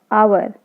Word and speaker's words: hour: So you can see hour. So H, we can't hear the sound of H. So H is silent.